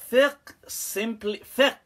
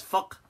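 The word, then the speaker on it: فقه: So, but in traditional fiqh, it's called fiqh with a kasra, okay, not with a dhamma.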